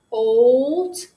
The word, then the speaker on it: bolt: Bolt. It makes that long sound. It's saying its name.